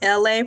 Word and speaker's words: LA: My name is LA, pronounced like LA, like the city.